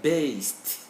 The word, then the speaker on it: based: So we say base and then based. Not D. We write D, but we pronounce T. In the dictionary, that's what we will find. And so the sound is based.